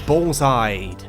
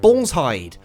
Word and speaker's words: Balls Hide: Next is Ballside. Yes, that is how you say it, YouTube comments. Ballside.